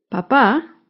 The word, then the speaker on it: papá: veamos las siguientes palabras papa lleva el acento en la primera sílaba en cambio papá lleva el acento en la segunda sílaba la primera palabra papa